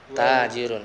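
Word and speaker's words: تاجر: Tajirun panjang. Tanya panjang. Tajirun. Hadzal rajulu tajirun.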